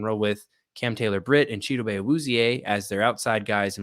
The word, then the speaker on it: Chidobe Awuzie: I mean, they have Chidobe Awuzie or Chidobe Awuzie, depending on pronunciation, who's coming off an ACL.